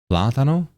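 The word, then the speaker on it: plátano: Okay, I'm going to go and find a raid target and then accent is on the first platano.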